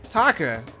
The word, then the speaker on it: Taka: Oh, Taka. Are you back? Who the hell's Taka?